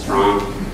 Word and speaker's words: STRCNG: It's just Strong. Um the C stands for coaching and clothing and we're hoping to launch a clothing line by December.